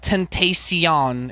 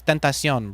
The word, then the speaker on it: Tentacion: I say his name like in Italian. It's not Tentacion. It's Tentacion, bro.